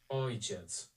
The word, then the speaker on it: ojciec: Ojciec.